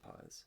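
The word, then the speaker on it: Pagés: Yeah, Paez.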